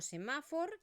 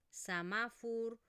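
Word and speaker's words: semàfor: Entonces, no digo semáfor, sinofur. Samafur, hospital, talefun. No, la tónica es esta, por lo tanto, esta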